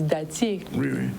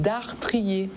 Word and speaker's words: dartrier: Donc nous, en cas dit dattier, parce que nous pas prononcer ces R-là. Mais nous, c'est dartrier. C'est dartrier, oui. Pas dattier. Pas dattier.